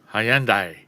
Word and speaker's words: Hyundai: How do you say Handi? Hyandai. Hayundai. Yeah. That's it. Handai Samurai. Anyway, I listed some uh Hyundai floor mats.